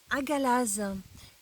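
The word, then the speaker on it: Hagalaz: Elle se prononce Agalaz.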